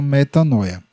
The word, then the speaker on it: metanoia: É isso que significa a palavra metânia, ou como alguns pronunciam, metanoia, certo?